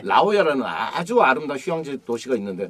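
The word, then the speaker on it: La Jolla: 라오야라는 아주 아름다운 휴양지 도시가 있는데 네네. 골프장 좋은 데 많고 골프장 많이 해요. 라오야. 네. 근데 그게 스펠링이 LAJOLLA거든요. 네. 근데 스페니시란 말이에요.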